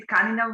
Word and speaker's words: tkanina: We don't say tkanina, we say tkajenina, but it's the same.